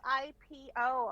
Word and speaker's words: Ipo: No, because it's spelled I-P-O. A lot of people here on the mainland mispronounce it IPO, which it's not IPO, it's Ipo. Yeah. Because it's not an English word.